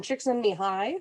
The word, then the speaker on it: Csikszentmihalyi: stuff from both Maslow and Rogers, and then Csikszentmihalyi, who we'll talk about today. Yes, that's how you pronounce his name.